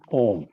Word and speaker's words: ॐ: को शुरू करते हैं ओम मिट्टी अक्षर निगम यह जो एक अक्षर ॐ है उच्चारण में ओम कहते हैं अक्षर एक ही होता